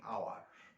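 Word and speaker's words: hour: এরকম আওয়ার, এইচ ও ইউ আর, এইচ এর উচ্চারণটা অ্যাকচুয়ালি হ, কিন্তু এখানে এইচ ও ইউ আর এটাকে আমরা উচ্চারণ করি আওয়ার, আওয়ার, এখানে ভাওয়েল সাউন্ড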